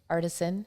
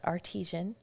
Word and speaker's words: artisan: And artisan, it's not artesian. You know, it smells the same. Ish. It depends. It's the emphasis on the wrong syllable.